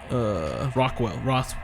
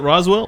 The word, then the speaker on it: Roswell: roth's what is it Rockwell Roth god I always say it wrong the mailbox in hell box Nevada Rock is it Roswell Roswell there it is geez well Roswell area